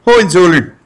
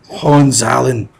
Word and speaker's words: Hohenzollern: there is the Hohenzollern, which I enjoy pronouncing Hohenzollern because it sounds like they're from like the east coast of Canada or something. But my wife, who is German, she does not like that. So it's Hohenzollern.